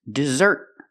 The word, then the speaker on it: dessert: The difference is the stress. The first word is desert. The stress is on the first syllable. And the second word is dessert. The stress is on the second syllable.